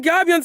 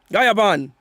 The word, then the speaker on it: Gaiaban: I'm Gabion's son, and that doesn't make you Gabion. Gaiaban. Gaiaban, yeah, Gaiaban. That's how you say it.